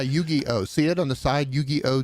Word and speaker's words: Yu-Gi-Oh: I would assume that people who are into Yu-Gi-Oh is that how you pronounce it scroll back up is it Yu-Gi-Oh yeah if you're into Yu-Gi-Oh the fact that